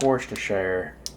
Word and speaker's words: Worcestershire: It looks like it should be Worcestershire, but I think Worcestershire is the proper pronunciation.